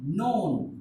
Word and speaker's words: known: but this is signed the first letter K is silent we never pronounce it only with brows oh